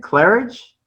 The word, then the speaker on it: Clerhage: um how do you say your last name clearage uh clear hoga oh clear hog okay yeah yeah that almost